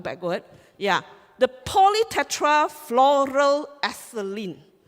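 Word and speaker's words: polytetrafluoroethylene: first I'm go back go it yeah the poly Tetra floral aceline right you can call it poly tectra floral aceline that's how you pronounced our the make of our membrane the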